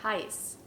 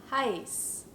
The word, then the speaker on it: heiß: sehr kalt or sehr heiß. Heute ist es sehr kalt. / sehr heiß. This funny looking b which we call szett is pronounced like a hard 's' sound just like in the word snow.